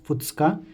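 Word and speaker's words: ふつか: So first day is Tsuitachi, second day is Futsuka, third day Mikka, fourth day Yokka, fifth day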